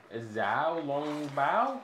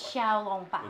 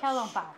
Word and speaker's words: Xiao Long Bao: The only thing I think they didn't alter is Zhao Long Bao. Oh, Xiao Long Bao. Yeah, how do you say that, by the way? Xiao Long Bao. It's Xiao. Yeah, like Xiao Long Bao.